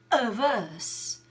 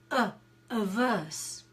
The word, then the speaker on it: averse: SE and it's pronounced a vs. so using the schwa sound exactly the Nino brilliant the schwa a vs.